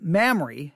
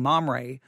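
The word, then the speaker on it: Mamre: miss to mispronounce it mamrie is how you say it mamrie i think i was saying mom ray i don't even remember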